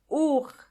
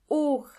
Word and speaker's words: Uhr: Uhr. Uhr means clock, and the H in this case is silent. Uhr.